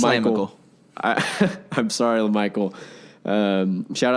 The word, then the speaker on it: LaMichael: I don't know why I just love saying Lamical. I like it better too. I said it wrong the first time I was watching him on TV, and I was like, I like Lamical, but it's LaMichael.